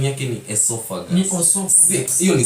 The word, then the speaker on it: esophagus: Pronunciation yake ni esophagus.